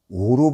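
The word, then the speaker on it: 於: 왕이 영소에 계시니, 이거 늘어자는 오로 발음을 해야 됩니다. 이게 늘 글자 중간에 끼어가지고 뭐 조사로 쓰이는 건데 그래서 늘어자예요. 글자 사이에 넣는다고 그래서. 근데 이게 여기서는 감탄사로 쓰인 거니까 오 이렇게 도금을 해야 돼요.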